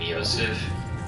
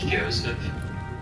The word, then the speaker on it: Joseph: research I realized that I was pronouncing his name ysep but it actually starts with a J so I guess it's Joseph so I'm going to correct that now uh perhaps the less